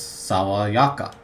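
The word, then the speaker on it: 爽やか: So sawayaka is a adjective, but you'll notice there's no E sound at the end there. No atarashi, it's sawayaka.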